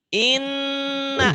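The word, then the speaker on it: إِنَّ: Maci, tapi kalau nunnya sudah ada tasdidnya beda tuh Maci. Ya, yang atas tadi ina, ini inna double kan? Double Ya, kan? Nah, ya. jadi cara baca guna 1 dibaca double. Kenapa double? Karena ada tanda tasdid ini tanda pendobel.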